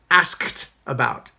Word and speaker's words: asked: and then past tense, asked about, not asked. Why? Because the regular verbs that end in K, regular verbs that end in K have a t pronunciation when I go to ed.